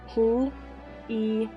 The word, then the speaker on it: plié: Plie.